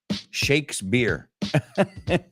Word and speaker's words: Shakespeare: Shakespeare. Okay. Americanos lo pronunciamos así. Esa P suena como una B.